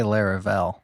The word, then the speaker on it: Laravel: I say Laravel.